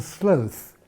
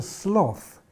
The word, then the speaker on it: sloth: write a w in sloth the deadly sin and so people don't necessarily pronounce it to rhyme with growth as i do but because it looks